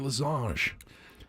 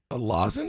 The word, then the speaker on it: lozenge: I said, "You mean a lozenge?" A lozenge. He goes, "That's how it's pronounced." I go, Yeah. "Yeah, it's not French. It's not French. It's not a losange."